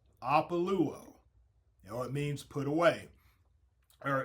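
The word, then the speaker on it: ἀπολύω: And that is Strong's Concordance, number 630 in the Greek, and it's pronounced APOLUO. APOLUO.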